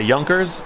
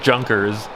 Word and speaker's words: Junkers: Plane shown here is a youngers u87 German Stuka dive bomber but us living in America wanted to pronounce it a junkers ju87 This Plane had gizmos